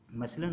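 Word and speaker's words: muscle: सी इज़ not pronounced in the ending मसल। अगर एस सी एल आ रहा है ना, एस सी एल ई एंड पर आ रहा है तो उसमें हम सी को प्रोनाउंस नहीं करते, जैसे मसल की मिसाल दी गई।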